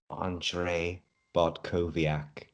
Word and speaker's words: Andrzej Bartkowiak: Andrzej Bartkowiak. Very nice. So he's going to use your version there over his own pronouncing.